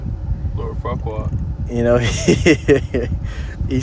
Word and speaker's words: Farquaad: Yeah, Lord Farquaad.